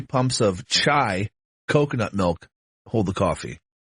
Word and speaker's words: chai: Okay, first of all, let's pronounce chai. Chai. Why are you saying Kai? I thought it was a hard C.